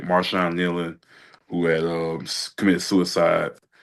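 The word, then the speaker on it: Marshawn Neland: Um Maran Nean, the guy for the Dallas Cowboys, I got his name wrong early when we had early podcast. I want to get his name right. Marshon Nelan who had um committed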